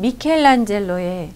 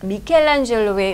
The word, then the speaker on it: Michelangelo: 자 오늘은 그 유명하신 미켈란젤로에 또 대해서 읽어 보도록 할 텐데요 우리는 이제 미켈란젤로 약간 이탈리언 식으로 읽어 주는데 영어로는 그렇게 발음하지 않는다는 거 여러분도 알고 계실 것